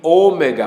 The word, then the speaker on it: Ômega: Everton estava me falando, a diferença entre o Ômicron e Ômega. Os dois são O, só que esse é Ômicron, micro, pequeno, pronúncia curta, Ômicron. Esse é Ômega, é um O, mas é o Ômega.